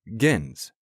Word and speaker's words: gens: gentle originally comes from the Latin gens pronounced with a hard G meaning a noble prestigious